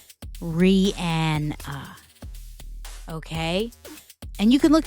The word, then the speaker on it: Rihanna: name over the years and somehow still people mispronounce it. It is not Rihanna or Rihanna. It is Rihanna. Rihanna.